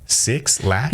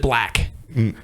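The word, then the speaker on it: 6lack: 6 lack? Yep. I'm sorry. This is a rapper. I was thinking of that. Oh. I'm sorry. But he pronounces it Black. But it looks like 6 lack.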